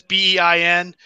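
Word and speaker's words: beIN: have been on the I guess is pronounced the bien Network I know it's bei n I get it around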